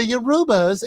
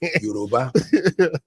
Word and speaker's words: Yoruba: But she just like, the Yorubas. And it was just like, okay, I get it. You can mispronounce it once.